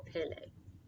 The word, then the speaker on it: Pelée: So, and there's a pronunciation guide, Mount Pelée, or Pelée.